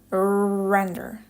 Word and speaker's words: render: This is to help you pronounce the strong R. When you say it, you attach a short ooh sound. render.